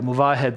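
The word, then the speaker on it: Movahed: Sina Munavet, Blitz Shark for sure. Mm-hmm. Yeah, Muvahed is of course the correct pronunciation. We like to say that he's moving ahead, but he's seen a move ahead.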